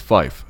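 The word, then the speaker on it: five: 5 is fife, F-I-F-E, and 9 is niner.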